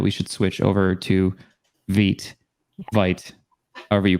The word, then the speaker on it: Vite: was great it was the french word for fast and so i think